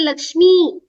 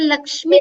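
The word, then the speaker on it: लक्ष्मि: It is not He Lakshmi. It's He Lakshmi. Lakshmi. Correct. Lakshmi. That Hrasva pronunciation has to be very clear, very important.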